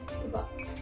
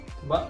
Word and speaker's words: tubâ: Tubâ. Tubâ. Mm-hmm. You have to say it fast like that.